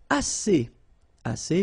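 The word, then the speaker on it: assez: All right and then assay means enough. Okay. Remember two vowels here a and then uh and then double s. So it's really strong the s.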